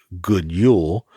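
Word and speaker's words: God jul: can be translated as good jeul fanatically it's pronounced good Yule God in Swedish means happy good Merry while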